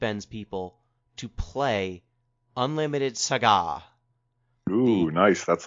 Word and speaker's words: SaGa: a naive question yes are we pronouncing it cigar for a deliberate reason and it's actually saga or is it cigar it's saga i'm trying to do a